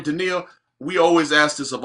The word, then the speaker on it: Deneil: Now, Deneil, am I pronouncing that right, Deneil? Yep, that's right. Yep. All right, Deneil, we always ask this of all our guests.